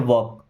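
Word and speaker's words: walk: एल यहां पे silent है। वॉक।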